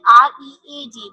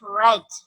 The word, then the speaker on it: read: We use We write the spelling read, but we pronounce it read. He read various kinds of books. We cannot pronounce it read because the read pronunciation we used in the present indefinite tense. While we are using the past indefinite tense, so the pronunciation will be totally different.